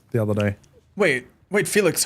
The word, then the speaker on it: Felix: I had a breakdown trying to find out how to pronounce Felix the other day. Wait, Felix, how is Felix pronounced? Because in Germany, we would say Felix. But it's not.